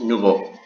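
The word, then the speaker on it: nouveaux: Entonces, como es el caso del masculino singular, que en este caso sería nuevo, nouveau, nuevos, nouveau. La pronunciación es la misma.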